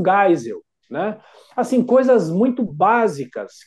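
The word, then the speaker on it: Geisel: desse ex-presidente do Brasil é jeisel aí eu falei não é é Ernesto gisel né assim coisas muito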